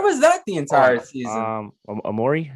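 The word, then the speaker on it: Omoruyi: Amori, is that how you say it? I think it's Amorie.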